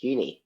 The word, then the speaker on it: Uni: First of all, my first question for you is, how do you pronounce your name? Uh, it is uni. Okay, so I was Okay, I was saying it right. I said Uni.